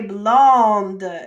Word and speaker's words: blonde: just so you know when there's that e on the end we pronounce that second to last letter so in this case